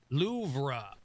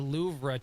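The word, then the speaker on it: Louvre: And then finally, the louv uh is something that people say wrong because it's actually pronounced loura, but anybody who's ever said the louvra to you in a conversation, you want a slap for being pompous.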